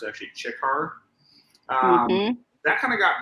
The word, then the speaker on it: Ciccar: is just my main shortened up and it's pronounced with a cha versus a sikkar it's actually chikkar um that kind of got brought about because